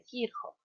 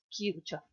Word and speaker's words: Kirchhoff: Ahora lo que vamos a enunciar son las leyes o reglas de Kirchhoff. Sería la pronunciación más correcta, en general le vamos a decir Kirchhoff, castellanizado.